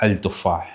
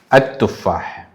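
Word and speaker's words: التفاح: but we don't pronounce Al Tufah because the T word Al Tufah, Al Tufah, the T word is silent, the L word is silent. So we have to pronounce this one like At-Tufah.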